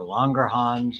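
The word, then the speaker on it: Langerhans: famously beta cells of longer hands or longer Hans as it's pronounced and it decreases blood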